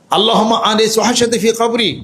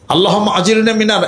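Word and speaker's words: اللهم: আল্লাহুম্মা এই আরবিতে এমনে পড়তে হবে। আল্লাহুম্মা এমনেই পড়তে হবে। আল্লাহুম্মা এ পড়তে হবে।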